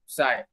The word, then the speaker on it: psi: they call it psi, psi now, psi, actually P is silent, and then omega.